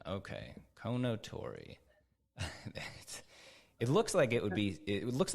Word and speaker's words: Kounotori: members of the team how should I be pronouncing this I know that it's a Japanese word yeah yeah gotcha Kano Tori okay Kono Tori it looks like it would be it looks